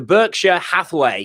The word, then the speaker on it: Berkshire Hathaway: So if I pronounce this correctly, the Berkshire Hathaway, is that how you say it?